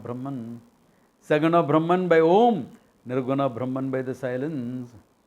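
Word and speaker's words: ओम्: the gullet to the lips first sound ah let's ah final sound close your mouth and make a noise um in between and oot represents all the sounds in between when they collapse together phonetically not by sandi rules etc all sandy rules are based on phonetics therefore when they collage together phonetically becomes om stands for isha therefore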